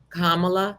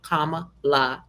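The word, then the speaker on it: Kamala: women Hillary Clinton and kamla haris pronounce her name correct people comma LA but hey now y'all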